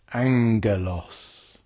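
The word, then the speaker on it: ἄγγελος: the pair go together the first gamma is pronounced with a n Sound n sound so for example two gamas would give n like in the English word sing or in the Greek word Angelos if the gamma was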